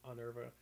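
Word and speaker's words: Honerva: Before it's like spelled with an H, but the H I feel like they've been pronouncing it silently, so I think it's Onerva.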